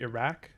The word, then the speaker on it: Iraq: the this is uh the q sound that you see in in the name in the the name of the country iraq which would be pronounced not like a ka as we do in english but um so yeah we